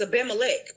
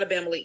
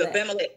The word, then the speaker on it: Abimelech: All and right, I can pronounce this correctly. It's Abimelech, not Abimelech. It's Abimelech. Uh-huh. Abimelech.